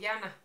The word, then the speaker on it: Jana: Pues originalmente no se escribe con Y, se escribe con la J. O sea, Jana. En mi país tenemos otras reglas de cómo se leen las palabras, entonces en esloveno se lee Jana.